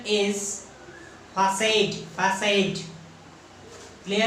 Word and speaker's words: facade: आपने सुना होगा फसाड। इस वर्ड को कुछ लोग फसाड कहते हैं, फसाड। ये आम बोलचाल में ज्यादातर लोग इसे इंग्लिश सीखते वक्त फसाड कहते हैं, FICAD, फसाड। But it is not its correct pronunciation.